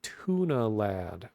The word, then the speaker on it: TVNA Lad: Oh, Tuna Lad, but they spell it TVNA.